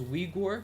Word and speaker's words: Uyghur: Now I'm gonna pronounce this as Uyghur because that's the way it's pronounced in English, and I